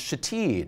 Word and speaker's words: Shithead: She said, that was the book with the ridiculous names like shithead that's pronounced shateed, right?